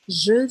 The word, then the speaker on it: je: Então, seria je, sendo que esse E é o E francês, que é aquele E bem fechado, que se aproxima à letra O, né?